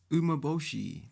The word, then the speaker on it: Umeboshi: Your Umeboshi, did I say it right?